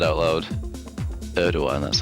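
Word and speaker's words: Erdoğan: Erdogan, that's how you say it.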